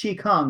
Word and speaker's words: Chi Kung: then we can H it out so it's pronounced Chi Kong right there is many pronunciations and uh it's